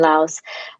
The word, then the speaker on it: Laos: Yes, you moved to Laos, yeah. or that's American pronunciation, Lao.